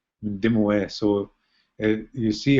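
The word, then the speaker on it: Mindemoya: And then the Anglicans wrote Mindamoya, so you see that Y-A at the end, and that's why people pronounce it Mindamoya. But the actual word we say, it means old lady in Ojibway, and it's Ndimoe, Ndimoe.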